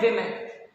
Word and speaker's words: women: विमेन। सी WOMEN, this is pronounced as विमेन।